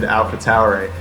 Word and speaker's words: AlphaTauri: And also, that's an interesting way of pronouncing AlphaTauri.